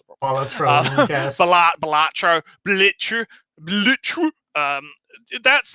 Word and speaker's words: Balatro: It also says something that games like Baltro, or I can't even fucking pronounce it properly. Balatro, yes.